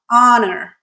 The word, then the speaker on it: honor: It is an honor to be here. All right. In this case, the H is silent. So the word actually starts with honor.